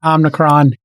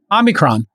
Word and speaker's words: Omicron: And related to that Omicron is spreading like crazy. Uh New York City had Omicron. Omicron. Omicron. There is no N. Omicron. Omicron.